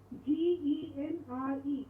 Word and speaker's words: genre: have taken into english it's a french word that has been taken into english and has become an